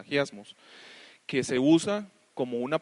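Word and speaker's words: ἁγιασμός: lo puse ahí, de la palabra griega agiasmos, así es como se pronuncia, agiasmos, que se usa como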